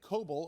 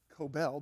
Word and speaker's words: Kobel: Kobel, or as Greg liked to call it, Kobel, because he's saying it wrong, is the CEO of TC Biopharm Holdings.